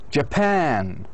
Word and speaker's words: Japan: But Japan is the stressed one because pan does have a stronger vowel than schwa.